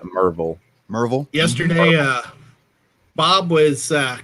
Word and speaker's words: Maryville: you're from around here you know it's mervel spelled m-a-r-y-v-i-l-l-e but it's a merville yesterday uh bob was